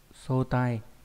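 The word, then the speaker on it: 早退: Đọc là sotai.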